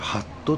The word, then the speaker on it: ハット: これハットと読みますハットはいえっとです